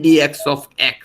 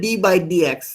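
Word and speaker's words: d/dx: করি সেটাকে আমরা বলি ডিএক্স অফ এটা হচ্ছে অপারেশনাল মোড কি বলা হয় অপারেশনাল মোড অনেকে বলে ডি বাই ডি এক্স এরকম ভাবে কেউ বলবেন না উচ্চারণটা হচ্ছে ডিএক্স অফ তারপর আমি যার সাপেক্ষে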